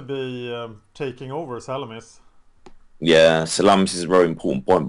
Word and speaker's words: Salamis: at the end, I Is that the guess. right way to pronounce it? Yeah, Salamis, yeah. Very Salamis. Yep. important city actually, yeah. Otherwise, As it sounds like the sausage.